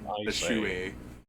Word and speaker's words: Bishui: I could, you know, if you read his name, it says Beish, right? Bish. Sure. I mean, I would read like Baishe. Aishe, well, it's pronounced Bishui.